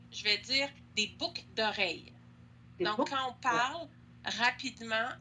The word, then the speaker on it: boucles d'oreilles: Mais si je parle vite, je ne vais pas prononcer le L de boucle. Je vais dire des boucles d'oreilles.